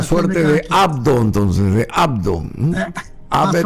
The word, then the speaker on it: Abd: O sea, de la es una suerte de abdo, entonces, de abdo. Abed o abdo. Bueno, hay una una E tácita entre la B larga y la D, sería Abed, una cosa así.